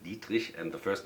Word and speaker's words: Dietrich: Actually a German name, that's why I pronounce it like that, Dietrich, and the first name should be pronounced Raimund Dietrich.